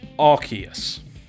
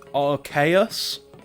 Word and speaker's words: Arceus: Now, I've always pronounced it as Arceus, right? But apparently it's meant to be pronounced Arceus because it's a play on the word Deus, which means like God. I'm like, really? And then apparently there are some people who pronounce it Arceus, and it's like, really? It's very clearly a hard C.